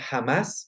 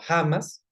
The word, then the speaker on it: Hamás: Bueno, Hamás se creó en el 1987, se pronuncia Hamas, no Hamas.